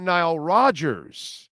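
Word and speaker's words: Nile Rodgers: I get it but Chic without Nile Rogers is nothing okay that's how it's said all right my brother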